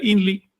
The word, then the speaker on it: INRI: Los mayas no entendieron qué significaba ese INRI históricamente, simplemente leyeron INRI, que quiere decir yo mismo. En maya se pronuncia INLI, yo mismo.